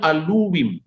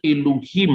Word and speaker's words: Elohim: Orang Samaria dalam teks Samaria sama, dibacanya aluwim. Orang Yahudi membacanya Elohim atau Elohim.